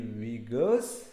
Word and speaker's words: Uyghurs: The Uyghurs ethnic group, the Uyghurs are alternately Uyghurs, okay, Uyghurs, the different pronunciation, are a Turkic minority